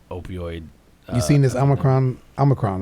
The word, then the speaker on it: omicron: solving the the opioid you've seen this omicron omicron right is how you say it i call